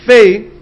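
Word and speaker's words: פ: dot inside in Hebrew there's two ways to pronounce the letter pay you can pronounce it pay with if it has a dases inside if it has a dot inside or you can pronounce it Fay if it does not have that if it does not have the dot inside says that that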